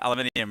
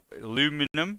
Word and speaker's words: aluminium: And yeah, I said aluminium wrong. No, I didn't. You guys say it wrong. We have this banter all the time between obviously the English and Americans. Aluminum.